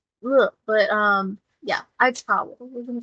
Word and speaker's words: Aizawa: So I know I just said Aitawa, and it's not that. It's Aizawa, and I pronounce it wrong for the entirety of the rest of the episode.